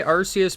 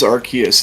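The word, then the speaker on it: Arceus: I that one's different because while I did say Arus before, I started saying Archus for some reason.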